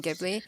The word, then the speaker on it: Ghibli: I don't know how it's pronounced. I think Well, it's Ghibli. it's Ghibli. It's Ghibli, but I'm so used to saying Ghibli Yeah.